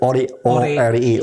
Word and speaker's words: ORI: Ori, ORI, uang Republik Indonesia. Uang. Ori itu uang Republik Indonesia. Bukan original, tapi uang Republik Indonesia. Singkatannya ORI. Ori, ya.